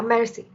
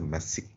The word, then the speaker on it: merci: Yeah, merci. Wait, Merci. R is pronounced. Yeah, it is. Oh, okay. I thought it was Messi, like Messi.